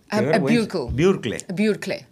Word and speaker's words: Burkle: Burkle. Ah, no es alemán, Burkle. Son 24 años. Yo vivo en Estados Unidos, Burkle. Burkle. Whatever. Con autoridad, Burkle. A lo alemán.